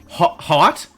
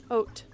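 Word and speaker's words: haute: Oat. Oat. H A U T E. Oat. Of course, it's French. You don't pronounce half the letters. It does not rhyme with tot. Also, the H is fake.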